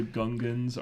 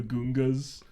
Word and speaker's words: Gungan: where like everyone calls him Count Dooku, but George Lucas says Doku, and like the Gungans are the Gungas.